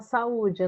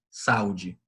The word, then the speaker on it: saúde: O U, ele tem, nesse caso, a força de uma vogal.